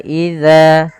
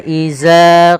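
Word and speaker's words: إذا: Pada lafal wa idza, hati-hati dalam pelafalan huruf zal, jangan sampai kita merubahnya menjadi huruf zai. Misalkan wa iza qila, misalkan begitu.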